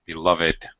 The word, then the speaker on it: beloved: Beloved. By the way, it's all three syllables are beloved ones.